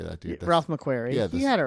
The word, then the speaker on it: Ralph McQuarrie: Ralph McQuarrie.